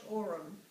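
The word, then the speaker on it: Oram: Orem, How do you spell that? O-R-A-M. It's phonetic. Orem.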